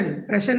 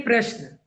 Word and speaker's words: प्रश्न: आपने कहा प्रश्न प्रश्न नहीं है प्रश्न।